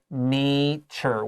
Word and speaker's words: nature: two words after that we have natural naturals with a short a timetable a so we know this is an adjective when we make it a noun it becomes nature with a long a be careful there um